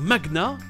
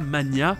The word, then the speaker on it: magnat: au japonais pour dire "magnat", quelqu'un avec beaucoup d'influence et d'argent. Et d'ailleurs ça se prononce bien "mag-nat" et non pas "mania" comme je le pensais.